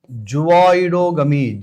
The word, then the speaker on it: zooidogamy: Pronounce it. Zooidogamy. Z O O I D O G A M Y.